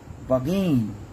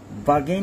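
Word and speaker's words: bargain: ব্যাকবিট back beaten back byte ব্যাকবিট ব্যাকবিটেন বাগেইন বাগেইন মাঝখানে আর এর উচ্চারণটা হবে না বাগেইন বার্গেইন মানে দর কষাকশি করা বাগেইন মানে দর কষাকশি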